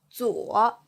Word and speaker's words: 左: So, z or 左 z or 左 Please repeat.